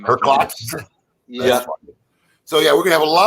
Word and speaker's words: Herklots: more with Michael Herklots, unless I want to say it like Herlots. Then you say it like everybody else. Yeah, well, I'm sure Mike was calling him Mike Herlots at the beginning. I finally had to correct him. I said, there's a K in there somewhere.